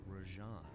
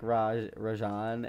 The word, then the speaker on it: Rajan: A mysterious spice lord known as Rajan. Rajan. Okay, so close. It's Rajan. I was saying Rajan. I was pronouncing it a little bit wrong, but I was right.